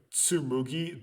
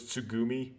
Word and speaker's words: Tsugumi: the girl had spoken did i pronounce her name tsumugi the entire time when it was tsugumi i'm going to figuratively